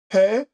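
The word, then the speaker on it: פא: 앞에 라메드라고 지팡이 모양은 L이라고 하면 얘는 이제 R이라고 하는 모양을 갖고 있어서 래쉬라고 읽습니다. 한번 다시 한번 읽어볼게요. 아인, 페, 사데, 코프, 래쉬라고 하는 단어들입니다.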